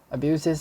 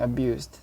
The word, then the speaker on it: abuse: Abuses, abusing, abused. The noun is pronounced abuse.